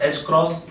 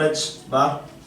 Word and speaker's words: h cross: It is pronounced as h cross or h bar is h upon 2 pi. H constant है, pi constant है, ratio h upon 2 pi given. You can pronounce in simple way h cross.